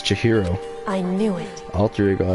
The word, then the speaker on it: Chihiro: Chihiro! That's how you say it. I always get so embarrassed introducing myself. That voice, the tone and everything. It's Chihiro.